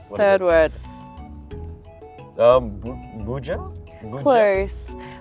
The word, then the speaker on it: Boodja: Boodja? Boodja? Close. Boodja.